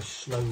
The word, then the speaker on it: sloe: put in a gin to make it a slow gym it's spelled s-l-o-e and one so there was approximately